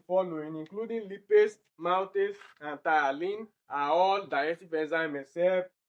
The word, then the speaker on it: ptyalin: It's not ptyaline, it's thiolane, because this P here is silent.